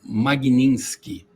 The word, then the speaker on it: Magnitsky: Então a nossa primeira pergunta é: Como é a pronúncia correta do nome da lei, Dr. Ricardo? É, a lei se chama Magninski.